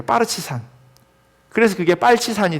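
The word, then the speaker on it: партизан: 근데 그 말이 예 러시아로 옮겨오면서 러시아 발음이요 빠르치산이래요. 빠르치산.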